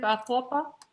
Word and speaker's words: Atahualpa: Atahualpa.